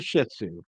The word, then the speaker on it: Shih Tzu: beefy beefy is a Shih Tzu and emphasis on the first part of that syllable okay and uh quick